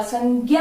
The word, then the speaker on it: संज्ञा: सही मान लिया है, पर अगर उच्चारण अगर सही पूछ ले तो ज और य उच्चारण सही होगा। यहां तक आया समझ में कि संज्ञा होगा। संज्ञा आजकल वैसे एनसीईआरटी ने